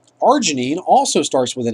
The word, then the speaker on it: arginine: So arginine. Arginine starts with an A, but when you phonetically say it, the R kind of takes over.